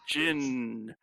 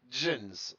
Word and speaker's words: Djinn: Yeah, it's Djinn. it's not pronounced Jins.